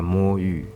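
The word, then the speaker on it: 魔域: So as you might think, the first word is pronounced as mo, and the second word is yu.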